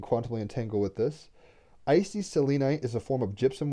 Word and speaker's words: selenite: stone we're getting is selenite i actually have a selenite wand right here i would normally say selenite but my fiance who's british says selenite where'd it go oh